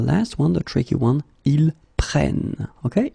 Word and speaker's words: prennent: Okay, keep in mind that you should pronounce it prenons, vous prenez, and then the last one, the tricky one, ils prennent. Okay, ils prennent.